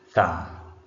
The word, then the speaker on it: thumb: Then this last word is thumb. So in the word thumb, B is also not pronounced.